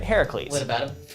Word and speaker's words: Heracles: yeah Harris please right Heracles what about him he kept saying like Hercules no not Hercules yeah yeah uh he